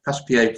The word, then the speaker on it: Passepied: So after the I said it right last time, Passepied from Suite Number 1 by Bach, we now